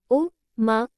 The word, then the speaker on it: ओम: जोर दिया जाता है आप ओ मा खुले मुंह और गले से पेट से आ ध्वनि निकालकर शुरू करें फिर यह मुंह के बीच में बने उ में विलीन हो जाती है अंत में बन मु से म का उच्चारण करके इसका समापन होता है भक्तन ओम शब्द को